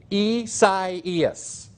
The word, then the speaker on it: Isaias: Organization and the National Hurricane Center for Hurricane Isaias. That's how it's pronounced.